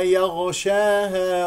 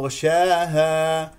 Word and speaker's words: يغشاها: ل مكسوره اذا يغشاها لا تقل ي يغشاها تستعلي الياء لانها مجاوره للغينيا تقول يغ يغ ولا تجعل الخاء كانها خاء ي ي يغشاها هذا خطا صفي الغين ي يغشاها وهي مستعل لا تنسى